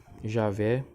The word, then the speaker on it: Javé: sem as vogais e sua pronunciação exata é de batida é Jeová e eu vá Javé e a ver o texto hebraico insere as vogais de Adonai e os estudantes e estudiosos judeus leem Adonai sempre que vêem o